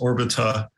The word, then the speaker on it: Orbita: You can also go to the Orbita website, which is just Orbita. It's like orbital without the L.